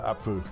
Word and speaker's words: Apfel: So there's a P and then an F, right? Spoon for you Apfel. guys. Yeah, Apfel. Apple. Oh, you pronounce Apfel, yeah, them both.